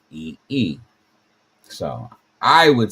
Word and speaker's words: phi: But certainly, as I look at that, that sounds like fee. So I would say that maybe the remarkable number phi, which certainly sounds different